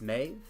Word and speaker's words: Maeve: between oh it's oh it's may v it's maeve maeve maeve okay so maeve but um yeah so